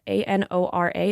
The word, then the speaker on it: Anora: I have the the it's spelled a n o r a it's a Nora uh it's a 2024